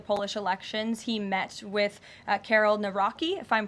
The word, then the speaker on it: Nawrocki: He met with Karol Nawrocki, if I'm pronouncing that correctly.